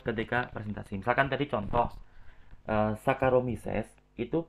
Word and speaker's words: Saccharomyces: Misalkan tadi contoh Saccharomyces itu bacanya bukan Saccharomyces ya, bukan Saccharomyces, tapi bacanya seperti huruf K, Saccharomyces ya, Saccharomyces. Jadi jangan dibaca Saccharomyces ya.